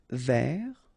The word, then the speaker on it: vers: Essayer de, essayer de, tourner vers, final S not pronounced, tourner vers, attendre, attendre, désirer, désirer, vouloir, vouloir, souhaiter, Remember, H is not pronounced here, so souhaiter.